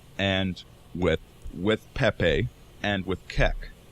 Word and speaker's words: Kek: Also worth noting, it can also be pronounced cuck.